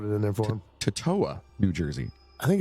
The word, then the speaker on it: Totowa: That's what they had the little pronunciation thing. I'm like, it's Totowa.